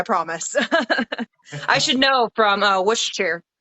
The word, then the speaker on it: Worcestershire: I should know from Worcestershire. Worcestershire. I know that Worcester. the Shire is supposed to be Shaw.